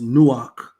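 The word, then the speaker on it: Noach: The word Noah or or is pronounced Noak.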